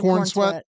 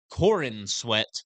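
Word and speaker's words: Corenswet: his name right David Corn sweat just every time I say it it doesn't feel right It sped like Corin sweat but it's pronounced corn sweat corn sweat corn sweat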